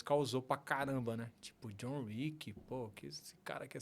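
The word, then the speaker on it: John Wick: Que tem o John Rick, né? Que é W-I-C-K. O meu é R-I-C-K. Só que da mesma pronúncia, né?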